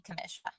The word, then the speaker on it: Kamécha: it is French and if you wanted to pronounce it in English it would be Kamisha oh commercial okay thank